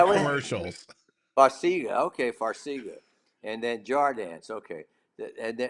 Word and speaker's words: Farxiga: How do you pronounce that? Farxiga. I've seen Is their that what? commercials. Farxiga. Okay, Farxiga.